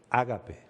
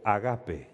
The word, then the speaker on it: ágape: Lo que en el original se llama ágape o agape, dependiendo de si lo pronuncia en castellano o en el idioma original.